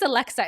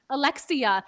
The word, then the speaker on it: Alexa: people's names right because my name is Alexa. It's five letters but for my entire life it's like people would be like Alexia, Alexis, Alex, like literally everything Melissa, everything but my name.